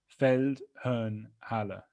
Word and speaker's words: Feldherrnhalle: So that's Feldherrnhalle, if you see it written down there, as it should be pronounced.